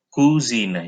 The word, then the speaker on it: Cousine: Cousine. Jadi COU dibacanya ku.